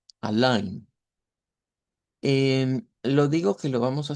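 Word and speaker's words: allein: lo vamos a pronunciar como aline aline digo que lo vamos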